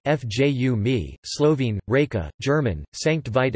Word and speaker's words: Fiume: Rijeka, Croatian pronunciation, Rijeka, listen, Italian, Fiume, Fju mi, Slovene, Reka, German, Sankt